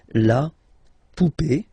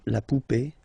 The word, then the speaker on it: poupée: well, okay, and then words ending with accent aigu, and then here, okay, remember this final is not pronounced, so you will have this e, remember accent aigu, it's e sound, okay, la poupée, the doll, l'arrivée, the arrival, okay, la poupée, l'arrivée, so feminine as well.